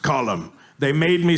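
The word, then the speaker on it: Colm: It's Colum. It's an Irish name. It's pronounced column. They made me say it wrong because Arthur's a dumb American, but it's pronounced column.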